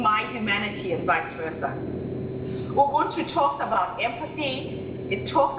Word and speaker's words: Ubuntu: It's spelled U-B-U-N-T-U.